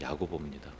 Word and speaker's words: 야고보: 구약의 야곱 야곱을 헬라식으로 발음하면이 야고보입니다.